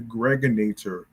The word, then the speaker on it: Gregonator: This is your man and homie, aka the Gregonator. Rhymes with now later.